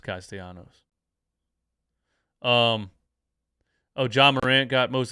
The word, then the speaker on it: Castellanos: DJ, I know you hate this, but it's pronounced Castellanos. Thanks, bro. Thank you so much. Well, actually, it's pronounced Castellanos.